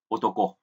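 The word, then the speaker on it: 男: Âm ông Yomi của chữ nam thì chúng ta đọc là Dan và Nan. Âm cưng thì là Otoko.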